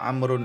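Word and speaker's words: عمرو: Nah, ini berarti dijelaskan ya bahwa amrun ini wawunya ini tidak dibaca. Dia hanya untuk membedakan dengan Umaru ya, bacanya amrun.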